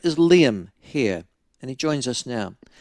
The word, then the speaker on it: Hehir: I must admit, his surname gives me problems because I want to go Hehir, because it's spelled Hehir, but I am reliably informed that his name it's pronounced.